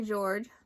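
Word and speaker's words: Georges: Rebecca Steve first day George the S is silent moves into a new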